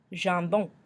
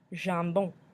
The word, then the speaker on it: jambon: Jambon. Jambon. The French word for ham. We've got the on sound at the end.